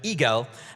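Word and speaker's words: i-gel: eye gel eye GTL is pronounced in German eagle and it means Hedgehog right human factors the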